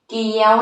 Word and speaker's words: เกี่ยว: ๆ เลย สุด ยอด เยี่ยม เลย ค่ะ ภาพ เกี๊ยว นะ คะ เด็ก ๆ สังเกต ครั้ง นะ คะ